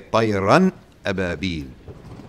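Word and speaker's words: طيرًا أبابيل: So you're going to have something else, which we're going to study in Tajweed, called idhar, where you actually pronounce the tanween. So you would say tayran ababil.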